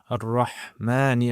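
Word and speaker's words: الرحمن: So Bismi, and then Allahi, then Ar-Rahmani. Remember the Shaddah represents two letters.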